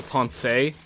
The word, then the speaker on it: Ponce: He pronounces the E in Ponce like Hokage, so Ponce de Leon.